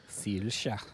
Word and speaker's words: Saoirse: And for Zelda, Anya Taylor-Joy, Elle Fanning, Saoirse Ronan. Sirsha.